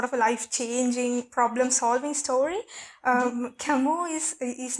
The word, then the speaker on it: Camus: Albert Camus. So it's the French pronunciation, but yes.